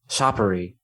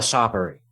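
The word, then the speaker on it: Czapary: all the issues salah sapari is i think his actual name speaking of funny names salla soppery i think that's how it's pronounced c-z-a-p-a-r-y it could be kaza party um but he is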